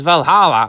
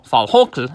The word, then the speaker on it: Valhalla: Now, it seems that the third season of Netflix's Vikings Valhalla, or Valhokl, as I should say, it should be the correct pronunciation, is the last one of them all and should not be renewed for a fourth season.